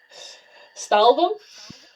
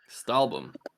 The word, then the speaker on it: Stahlbaum: Stahlbaum? Stahlbaum.